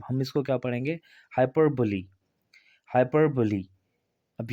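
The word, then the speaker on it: hyperbole: तो यहाँ पर भी ये साइलेंट नहीं होगा, इसको भी पढ़ा जाएगा। तो हम इसको क्या पढ़ेंगे? हाइपरबोली।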